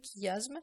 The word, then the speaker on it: chiasme: on passe le chiasme on le prononce de cette manière le chiasme c'est quoi le chiasme